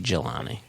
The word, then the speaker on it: Jelani: GEH dash or hyphen LONNY, which I take to be Jelani, which apparently is a soft G, which sounds like a very hard G.